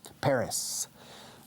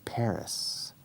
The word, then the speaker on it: Paris: Paris. Notice the pronunciation, Paris, como una pera, pear.